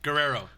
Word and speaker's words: Guerrero: Guerrero. Guerrero.